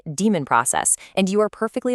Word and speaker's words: daemon: You look at it and it seems like it should be pronounced daemon, right? But, the process that runs your Unix backgrounds is actually pronounced exactly like the word demon. Just say demon process and you are perfectly aligned with the industry standard.